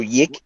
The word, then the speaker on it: YIIK: it's spelt Y, 2 I's and a K. It's not Y number 2K. Wow. So YIIK.